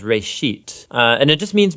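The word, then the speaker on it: בראשית: it's called Genesis Genesis comes from a Hebrew word uh it's pronounced RIT uh and it just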